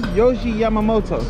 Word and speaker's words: Yohji Yamamoto: All right, so this is, how do you pronounce his name? Yohji Yamamoto.